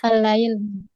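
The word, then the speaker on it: الليل: Allail. Iya. Allail. Allail. Ya. Kalau dibaca di awal maka dia dibaca allail.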